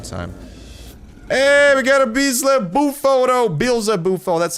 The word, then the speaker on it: Beelzebufo: Hey, we got a bees buou. That's how you pronounce it.